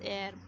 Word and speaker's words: heir: HEIR, air. Its pronunciation is air.